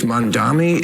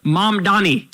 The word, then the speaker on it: Mamdani: If Mondami is the... Mondami. What is it with old white guys not being able to say Mamdani? Fucking Cuomo can't say it right. Bill Maher can't say it right. Mamdani.